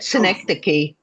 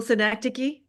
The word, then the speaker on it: synecdoche: synecdoche. I haven't heard that since I was a senior in high school. That's what we're up to here, right? Visual synecdoche.